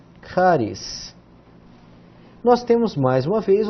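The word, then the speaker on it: χάρις: Começamos com ri, CH, depois um alfa, K, um rho, R, depois iota e S, caris.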